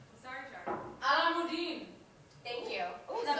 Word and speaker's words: Alamuddin: Alamuddin. Thank you. Oh, that pronunciation.